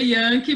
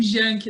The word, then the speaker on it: Janke: então é yang se pronuncia ianques como se escreve com j e aí muita gente acaba falando janke né acaba ficando